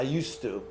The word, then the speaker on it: used to: you say what I used to live with my mother means I don't live with my mother anymore so in other words you write the D but you don't pronounce okay so you see